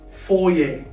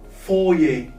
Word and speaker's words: foyer: Let's start with the first word, foyer. Foyer. That's how we spell it.